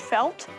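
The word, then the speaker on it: fáilte: This is pronounced felt.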